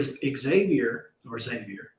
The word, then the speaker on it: Xavier: It's like it's with a Z. Got like Xavier.